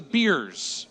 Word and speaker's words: Beers: These are the beers, and in the pronunciation it says like more than one beer.